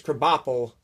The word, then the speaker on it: Krabappel: Krabappel, that's how you say it, Mrs.